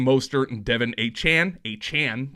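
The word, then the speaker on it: Achane: and Devin a Chan a Chan that's how you pronounce it per Devin himself put up nearly 100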